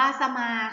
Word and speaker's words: สมา: เลย ค่ะ คำ ว่า สมา ค่ะ สมา อ่าน ว่า สะ มา จะ มา ประกอบ ไป ด้วย สาว ฤาษี มอ ม้า สระ อะ ค่ะ หนึ่ง คำ สอง พยางค์ ค่ะ สมา นะ คะ หมาย